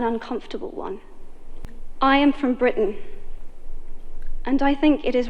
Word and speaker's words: Britain: she's from britain britain so she uses this glottal stop here britain britain and she doesn't say britain she says britain and she's talking here